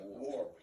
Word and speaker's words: Warp: Yeah, say it like we say it here in the United States. You know, war.